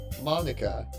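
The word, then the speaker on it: Monika: of all people because it's writing your name Monica that's how you say my name at all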